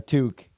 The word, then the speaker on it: toque: Next one's guaranteed, a toque. Oh, Talk toque. to him. Yeah. Toque. Yeah, as Americans will call it beanie. Yeah. I guess toque specifically. It's like a French Canadian word. Toque. It's spelled weird.